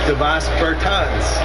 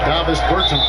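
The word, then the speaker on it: Dāvis Bertāns: Oh, well, now, at this point in my life, it's Davis Bertans. Is that how you say his name? Davis Bertans.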